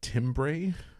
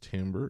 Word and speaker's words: timbre: I know that word looks like timbre, but it's actually pronounced timbre. It comes from a French word, form and texture.